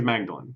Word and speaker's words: Magdalene: Like Mary Magdalene. Yeah, so I think it's Magdalene, because that sounds right.